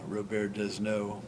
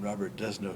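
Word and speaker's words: Robert Desnos: uh Arts critic uh Robert desno or English pronunciation Robert desno is of France born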